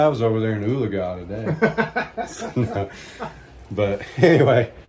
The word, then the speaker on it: Oologah: Oologah.